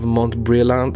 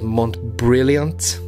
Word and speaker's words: Montbrillant: I'm not really sure about the pronunciation of Montbrillant. I feel like it's French in some way. When I was younger, I called it Montbrillant, stupid as I was, but I think it's Montbrillant Legende, and it's a really, really cool piece.